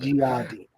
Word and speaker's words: Gehati: It's a hard G. Okay. I'm so sorry. I knew it was gonna happen. Gehati. Because you know what it is? I've been saying it the Gehati the other way.